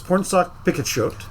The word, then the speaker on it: Pornsak Pichetshote: I the the writer on this by the way is Pornsak Pichetshote. I looked up pronunciation. That's correct.